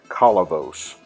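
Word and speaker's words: Kolovos: She pronounced it Kalavos, the correct way in Greek.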